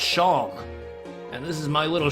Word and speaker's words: Seam: anything better to do name Shawn pronounce Shawn and this is my